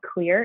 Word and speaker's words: Xlear: that but there is a product called clear it's spelled xlear and it's they have